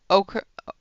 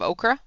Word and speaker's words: ochre: It took me a long time to learn how to say ochre instead of okra.